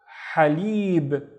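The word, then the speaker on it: حليب: The first syllable is simply ha, ha, running out of breath, and then we have lib, lib, halib, and halib means milk, halib.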